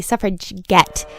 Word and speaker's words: suffragette: their own and they they would pronounce it with a hard g so it would be suffrage get and that would be